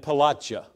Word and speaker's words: Pelatiah: Yehazaniah and Pelatiah. I learned something this week in trying to pronounce these names, that the IAH is Yah. That isn't how we would pronounce it, but I wanted to do it somewhat justice anyway.